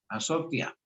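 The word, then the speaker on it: ἀσωτία: pantalla como se escribe en griego y se pronuncia azotia.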